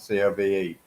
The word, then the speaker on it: Cobh: they were buried in cove does that i guess is that place well it's actually spelled c o b h not not c o v e c o b h it's pronounced cove but if that is